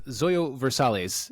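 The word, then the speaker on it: Zoilo Versalles: I spaced on this Zoyo versales is how you pronounce his name uh was a Minnesota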